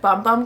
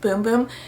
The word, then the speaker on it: Bum Bum: boom boom cream when everybody called it bum bum cream but then we all learned it's pronounced boom boom but their first like